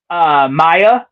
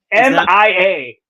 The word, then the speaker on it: Mia: pronounce this name, but I think it's Maya from Evil Dead 2013 remake. I think M-I-A. Is that Maya? It's Mia. Oh, Mia. Okay, Mia.